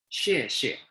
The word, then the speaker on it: 谢谢: Remember, X is pronounced with the sound of SH.